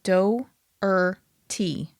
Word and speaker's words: Doherty: I'm saying Do-er-T. D-O-E-R. In other words, the O and the E don't make one sound. Doherty? You're not Doherty. pronouncing it Doherty.